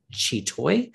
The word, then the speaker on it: Chi Toy: him and his daughter, Chi Toy. Is that how you say her name? Yeah, you can say Chi Toy, yes.